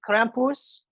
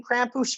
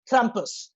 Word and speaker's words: Krampus: pantsers we are doing krampus now to be fair there's uh now like a million krampus movies out there yeah i'm sorry campus that's i gotta pronounce the r properly yeah you gotta do